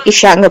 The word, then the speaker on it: Ishango: today we call it Ishangu bone. So when I speak that word, I have to visualize the alphabets in my brain, which is ISHANGO, so that I can pronounce it correctly, or so that I can memorize it effectively.